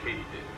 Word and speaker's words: katydid: Also, they're not actually crickets, they're a subfamily of the katydid, which is apparently how you pronounce it.